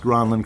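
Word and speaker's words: Granlund: Mel grin granin grin out of Finland it is pronounced granin correctly but a lot of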